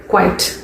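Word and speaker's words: quite: QUIET, அது வந்து குவயட், அதுக்கு அர்த்தம் அமைதி. இது வந்து QUIT. ஸோ இது எப்படி ப்ரொனவுன்ஸ் பண்ணணும்? குவைட்.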